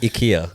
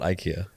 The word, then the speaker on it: IKEA: it's terribly technically technically as well technically it's pronounced ikea not ikea yeah oh my gosh are you for real